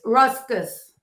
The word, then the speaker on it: Ruscus: It's ruscus.